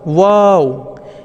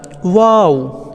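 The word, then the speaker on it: و: ঠোঁটের দুটি গোলাকার করুন ঠোঁটের দুটি গোলাকার করুন ওয়াও ওয়াও এই যে চিত্রটা আপনারা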